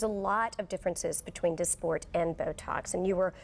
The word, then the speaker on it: Dysport: And it's called, it's called, and I don't want to mispronounce this, Dysport? Dysport.